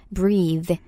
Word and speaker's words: breathe: Spelling은 B-R-E-A-T-H-E, breathe, breathe. 만약에 그냥 숨이라는 명사 형태로 얘기할 때는 발음이 좀 바뀌어요.